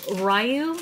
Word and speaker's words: Ryu: Front of the box, Ryu. Is it Ryu or Ryu? Or Ryu. Ryu. I never pronounce it right.